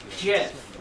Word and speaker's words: GIF: pronounced it more like gif as in the peanut butter brand not not a wi sound it's more pronounced like the creator of gifts pronounced is it more like J as in Jiffy J as in Jiffy